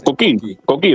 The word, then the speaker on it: Koki: I'm working on my no, Koki, like Coquito.